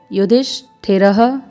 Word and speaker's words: युधिष्ठिरः: अनंत विजयम राजा, कुंती पुत्रो युधिष्ठिरः, ह का स्वर विसर्ग लगा है इसलिए।